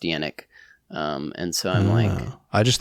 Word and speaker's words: Yannick: There's I don't know if he's famous, but there's a hockey player that's named Yannick, and it's actually pronounced Yannick.